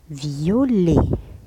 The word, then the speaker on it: violet: أنه مكتوب T à la fin لكن لا ننطقه. تسمى هذا لللتر الموجودة في الأخير ولا ننطقها بالحروف الصماء. لللتر muette. إذن muette ça veut dire صماء لا ننطقها. لللتر muette c'est الحروف الصماء. T à la fin لا ننطقه. نقول violet.